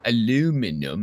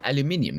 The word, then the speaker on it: aluminium: yeah so yeah and I'm just saying it's not it's it's not it's not aluminum it's aluminium get it right yeah but some people say